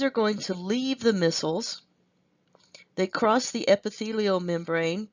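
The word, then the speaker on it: micelles: these small globules are going to be called missiles missiles I know it doesn't look like that but that's the way it's pronounced missiles so once these missiles are available then the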